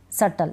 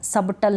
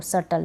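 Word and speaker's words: subtle: को प्रोनाउंस नहीं करें बी इसमें साइलेंट है इन तीनों स्पेलिंग्स को आप पढ़ लेना दैट डाउट सटल सबटल नहीं पढ़ेंगे इसको सटल ठीक है हो गया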